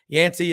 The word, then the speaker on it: Yancy: on super talk Mississippi it's two syllables folks and uh yansy uh 11 wins where